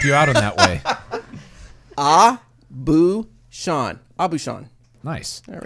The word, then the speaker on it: Aubuchon: Abu Shan. Nice. There we How do you go. spell it? Aubuchon. I don't know what I would have. I'm glad he did because I would have said Abuchan.